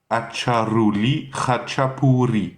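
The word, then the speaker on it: აჭარული ხაჭაპური: Le premier mot commence par Acha, A-T-C-H-A, hein, vulgaire, simplement. Acha. Ensuite c'est Ruli, donc la R espagnole, la R, le R roulé.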